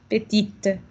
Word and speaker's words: petite: Ya no digo la E, pero ahora sí digo la T. Así es como sé que estoy hablando en masculino y femenino. Petit, petite.